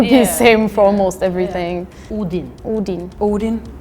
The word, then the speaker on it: Odin: think it's more o Odin for me it's if it's 2D it would be Odin but like there's only one D so that's why I pronounce it like that we would say Odin